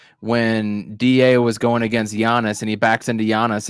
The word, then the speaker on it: Giannis: he shut jonas down how do you say his name say it giannis with a y yeah yeah y-u-h-y-u-h